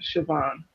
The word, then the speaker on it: Siobhan: sabe su be abolished it's Siobhan really is not pronounced the way it is spelled so wait I'll say the character you can give them sad eyes fine Siobhan right so did you